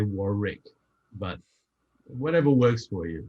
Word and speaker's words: Warwick: And most Americans call me Warwick. Yeah, Warwick. That's the way they say it. It's just that in English, you just say Warwick.